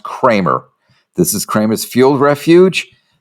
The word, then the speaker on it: Creamer: This is not pronounced creamer; it's pronounced Kramer.